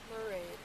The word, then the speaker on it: Mairead: to find okay and you pronounced it pronounced your first name mered merid merid like parade yeah parade okay merid